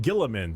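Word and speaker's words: Guilliman: Primarch, Rabute Gilliman.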